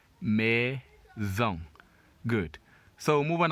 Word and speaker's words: maison: Remember, when S is always as a single letter in the middle of a word, it is pronounced Z. When it's a double letter, that's when it is pronounced as normal S.